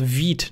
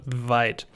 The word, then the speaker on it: Vite: this in the beginning it's called veed not vite it's french for quick thanks very much um